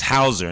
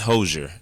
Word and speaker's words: Houzer: It's Hauser, not Hosier, not the singer. Not the singer. Like, a lot of people are like, oh, Hosier is it's Hauser.